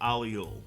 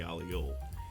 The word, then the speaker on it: aglio: Now I know that this dish is pronounced many different ways, but my grandparents actually came from Italy. This is the way that my family always pronounced it, so we always called it spaghetti aglio.